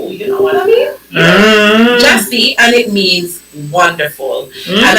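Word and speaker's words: Gyasi: It's pronounced Jessie. Oh wow. How we spell? Oh yes. Jessie. G Y A S I G Y A S I and then it's pronounced J A H S E E you know it it's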